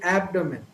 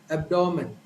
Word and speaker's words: abdomen: So a native speaker tends to pronounce, so the right pronunciation of this word, the stress is given to the first syllable. So typically the right pronunciation would be abdomen.